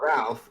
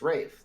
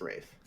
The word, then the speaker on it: Ralph: you're right there is there is an l but it is pronounced rafe yeah english such a